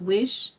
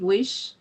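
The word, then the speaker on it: Wyche: Weish is pronounced Wish.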